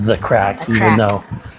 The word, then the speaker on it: Ye Cracke: parce qu'au Moyen Âge, un Y faisait un ième son donc il était toujours prononcé The Cracke même s'il y a un Y là-bas, hein c'est déroutant, est-ce bien